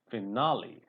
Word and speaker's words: finale: And this is finale. Finale. This is lee. People call it lay, but this is lee.